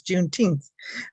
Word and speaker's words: Juneteenth: the june 10 juneteenth i guess i'm pronouncing it right juneteenth um commission that's how they pronounce it in texas juneteenth okay commission um and